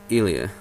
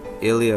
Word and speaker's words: Ilia: then we have ilia it's either ilia or ilia but it doesn't really matter in english because it's kind of shown the same way in japanese idia so we're not really sure about that though i'm pretty sure again it's accidents on the first first vowel and in idia so it would be ilia or ilia though ironically enough i